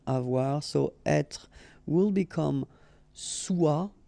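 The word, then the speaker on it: sois: So être will become soit. Remember, final S is not pronounced. Soit.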